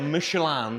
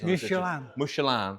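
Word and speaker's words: Michelin: on this one as well matching set of michelan we must pronounce it correctly because it's mushan hey it's not a restaurant by the way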